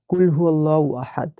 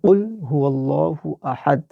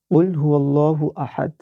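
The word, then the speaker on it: قُلْ هُوَ اللَّهُ أَحَدٌ: এখানে এই যে কফটা আছে, এই কফটা ক উচ্চারণ না করে আমাদের কফ উচ্চারণ করতে হবে একটু ভিতর থেকে। তো এখানে আমাদের সঠিক উচ্চারণটা হবে কুল হুয়াল্লাহু আহাদ।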